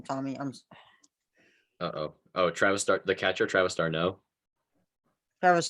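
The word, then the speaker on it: d'Arnaud: Travis Durant. I don't know how to pronounce his last name, Tommy. Travis the catcher, Travis Darno. Travis Darno.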